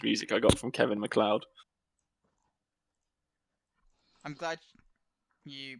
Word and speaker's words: Kevin MacLeod: I mean, currently it's just some Christmas music I got from Kevin MacLeod. I'm glad you pronounced his name properly. Well, not MacLeod.